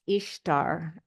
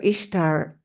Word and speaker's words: Ishtar: And so Ishtar is pronounced Easter in a lot of dialects, right?